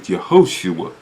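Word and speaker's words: יהושע: The proper pronunciation of his name is Yehoshua. Yehoshua. The proper pronunciation of the name Joshua that was given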